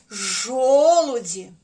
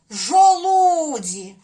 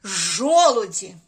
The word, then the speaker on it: жолуді: голосних значить 3 склади А тепер ставимо наголос в словах жолуді які я склад виділяю голосом правильно перший тому наголос ставимо на перший склад жо на звук о жолуді Ну а наприклад якби ми поставили наголос от сюди на звук у як би Це звучало жолуді ну це невірно неправильно А якщо сюди поставити жолуді так само неправильно ні правильно буде ось так жолуді починаємо наступне слово ожина